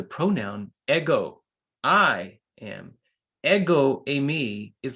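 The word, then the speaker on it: εἰμί: Eimi. Is that how you say it? No, you just say Amy, which is I am.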